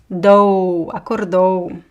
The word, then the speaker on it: acordou: Ela acordou. Again, the stress goes to the end.